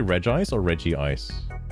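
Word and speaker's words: Regice: Oh, does he say does he say re ice or reggi ice reggi rock ice? He does say re ice. Okay. I mean, I know it's spelled it's spelled re ice, but some people All right.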